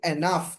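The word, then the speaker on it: enough: তো দেখুন আমি কয়েকটা শব্দ দিয়েছি, যেমন এ, sorry, E এন, ই এন উচ্চারণটা কি এন, ও ইউ জি এইচ নাফ, মানে আফ, উচ্চারণটা কি হবে এনাফ, মিলিয়ে পড়লে হবে এনাফ, এনাফ, বুঝছেন? এনাগ হওয়ার কথা ছিল এনাগ, কিন্তু এটা জি এর উচ্চারণ না হয়ে এনাগ অথবা এনাজ হওয়ার কথা ছিল, কিন্তু এটা এফ বা ফ এর মতো উচ্চারণ হয়ে গেছে, এনাফ, যথেষ্ট।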